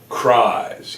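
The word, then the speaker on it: Kriese: This kid's name is, and it sounds like the word rise. It's Ryder Cries, K-R-I-S-E.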